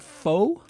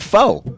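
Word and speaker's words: phở: Are you sure it's not faux? Pho. Well, some people pronounce it pho. Americans. Friend or foe? Americans. Yeah, exactly. It's pho, right? Pho. Or It's you tell it. Your ex-wife. My ex-wife is Vietnamese, and she would say pho, which had a little thing, a little accent on the end.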